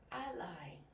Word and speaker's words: ally: Ally, or you can also say ally. The reason why there's an asterisk here is because this word is pronounced differently depending on whether you use it as a noun or as a verb.